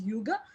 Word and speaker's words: hygge: yuga so it's written as hygge but they pronounce it as yugo and which just means being together creating small